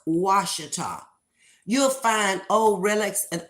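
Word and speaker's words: Ouachita: a that's the way it's spelled but it's pronounced wash you'll find old relics and artifacts if you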